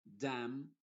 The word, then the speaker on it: damn: Y en palabras que terminan en MN, que hay algunas, la N es muda y la M sí se pronuncia. Por ejemplo, solemn, no se dice solemn y con la N al final, solemn, sino solemn. Condemn, por ejemplo, damn o autumn. En ese caso la N está siendo muda.